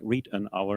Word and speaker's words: Riedenauer: My surname, Riedenauer, is spelled like read an hour, and I really do.